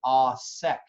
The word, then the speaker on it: au sec: And you're going to let that cook down to what we call au sec. Au sec is spelled A-U, next word S-E-C.